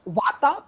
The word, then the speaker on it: Vata: And this is how you pronounce Vata, Pitta, and Kapha, right?